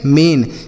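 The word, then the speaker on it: main: ए आई का उच्चारण ए की मात्रा। इसे पढ़ेंगे मेन। एम ए आई एन मेन।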